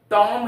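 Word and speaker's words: tomb: ठीक उसी तरह से बहुत से एग्जांपल है टॉम है टी ओ एम बी टॉम टॉम का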